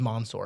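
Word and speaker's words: Mansoor: Oh, I figured out it is Monsour.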